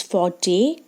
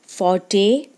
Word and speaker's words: forte: In today's video I am going to explain one noun which is forte. Actually it is having two pronunciation. In British English it is forte and in American English it is fort.